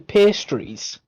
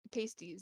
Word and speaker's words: pasties: Why does it say pasties when they're actually pastries? They're not pastries, they're pasties. That's how you say it.